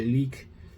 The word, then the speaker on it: Lik: Carnation by leak and it spells like L I K. So you expect to say it lick but it's leak is the Swedish way of pronouncing the word corpse.